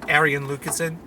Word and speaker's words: Arjen Lucassen: It's Arjen Lucassen. It's how you pronounce his name in Dutch, because the J.